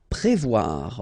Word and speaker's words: prévoir: Prévoir. Okay, remember O and E together, you will get the sound wa, wa, wa, wa. Voir here, and then pré. Prévoir.